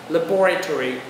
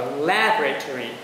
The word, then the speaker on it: laboratory: Đấy, nếu các bạn đọc là chữ ơ thì phải đọc là laboratory. Đó. Thì nếu bạn đọc là chữ a thì đọc là laboratory.